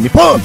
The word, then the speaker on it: Nihon: Okay, it's spelled Nihon. Mm-hmm. That's passive-aggressive right there. It's it spelled is. Nihon, and you're saying Nippon.